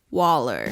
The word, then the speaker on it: Waller: Oh, I meant to say it rhymes with baller, collar, dollar, and holler. Waller.